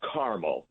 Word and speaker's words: Carmel: The pronunciation there is Carmel, unlike Carmel by the sea in California. Right. Or Carmel that you eat.